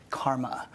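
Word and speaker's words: CCRMA: way that surance to ccrm eight in this pronounced karma I direct the fan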